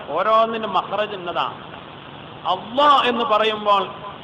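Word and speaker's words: الله: ഉച്ചാരണം ഓരോന്നിനും മഹ്റജ് ഇന്നതാണ് അള്ളാ എന്ന് പറയുമ്പോൾ അത് ളാദ് അല്ല പിന്നെ വലാലല്ലീൻ എന്ന് പറയുന്ന ളാദ് അല്ല ളാലിം എന്നൊക്കെ പറയുന്ന ളാഹു അല്ല അള്ളാ എന്ന് പറയുന്നത് കനപ്പിച്ചു ആ ഉച്ചാരണത്തിന് പോലും അതിനുപോലും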